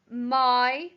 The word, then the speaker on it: my: rhyming words number eight my m y and the y is making the i sound at the end number nine your y-o-u-r